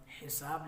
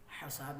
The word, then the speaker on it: حساب: پہلا لفظ ہے حساب۔ تو یہ فعال کے وزن پر حساب لفظ ہے، حساب نہیں ہے۔ جیسے کہ ہم کہتے